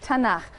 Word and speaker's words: Tanakh: also on that sheet tanak which is really the letters t n and um and they put little A's in there to make it easy to pronounce cuz is hard to